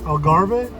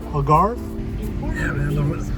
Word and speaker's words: Algarve: coast to album Farrah that's how you pronounce it to Algarve Algarve the roads are funky